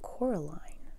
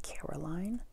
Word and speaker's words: Coraline: name wrong you know they keep saying coraline not caroline not caroline at all he picked up